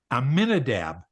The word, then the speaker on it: Amminadab: on it okay keep you read the letters that are there and you pronounce the letters amminadab aminadab was the father